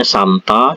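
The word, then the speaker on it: 삶다: Kata saremta ini bacanya samta, joremta itu dibaca comta, terus ini daremta dibaca tamta, seperti itu ya.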